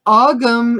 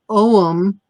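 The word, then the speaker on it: ogham: to a tree okay so ogum is the old irish pronunciation om is modern irish so i've heard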